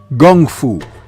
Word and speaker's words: Kung Fu: and he called it Gung Fu, pronouncing the K with a G, coming straight from Bruce Lee and his thick Cantonese accent.